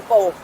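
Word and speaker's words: Whampoa: it's about one power i said just forget the a and one wampo we're going to this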